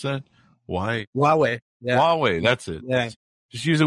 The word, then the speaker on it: Huawei: there yeah just just use it with your Hawaii phone or how do they pronounce that hwai Huawei Huawei that's it just use it with your Huawei